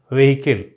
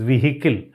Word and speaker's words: vehicle: Like that, vehicle, we all pronounce it as vehicle. No, it is vehicle.